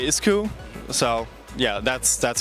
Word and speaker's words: Isku: uh we say ISU so yeah that's that's how we pronounce it now we reamped it so we call it iscu plus it is now swarm compatible swarm is